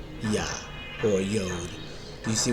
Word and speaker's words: Yah: because originally it's pronounced Yah. We know in Hebrew it's not Jah. There's no J in Hebrew. It's pronounced Yah.